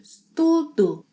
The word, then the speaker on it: estudo: Eu estudo, which sounds like estudo.